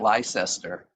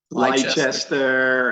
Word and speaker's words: Leicester: corrected me because I forgot it's not Gloucester and it's not Leicester. John, how do you pronounce it? Gloucester. Gloucester, and what's the other one? Leicester.